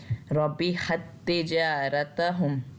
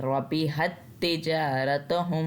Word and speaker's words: ربحت تجارتهم: रबिहत तिजारतहुम, यहाँ पे अब ये जो ता है जिसके ऊपर साकिन है, ये जो ता साकिन है, इसको हमने साइलेंट कर देना, इसकी आवाज़ नहीं लेनी। हमने हा को सीधा तशदीद वाले ता के साथ मिलाना है।